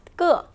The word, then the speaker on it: 个: Yes, and when we pronounce it, measuring word 个, we should pronounce light and short as a neutral tone.